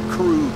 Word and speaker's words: Krug: And it's pronounced Krug, not Krug.